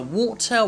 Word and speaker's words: water: have spit it out so you should pronounce with the water inside your mouth so it's like the